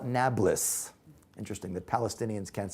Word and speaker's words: Nablus: neo Paulus new city Arabs can't pronounce peas today so they call it Nablus interesting that Palestinians can't